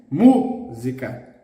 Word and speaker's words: música: Every word with the antepenultimate syllable stressed is going to have the accent. For example, the word unique, único, único, único, unique. Bird, pássaro, pássaro, bird, pássaro. Okay? Music, música, música.